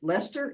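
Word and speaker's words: Leicester: from the University of leester is that the way to pronounce that yeah that's correct okay uh in 2012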